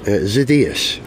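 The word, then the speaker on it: Xydias: founder of the original SoCal Speed Shop Alex zidas is that how you say his name or zidus zidas okay yes oh telephone call from Miss ETA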